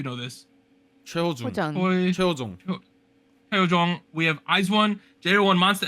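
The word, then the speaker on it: Hyojung: How do I pronounce her name, Anita? You know this. 최호중. Hojeong. 최호중. Hyojong.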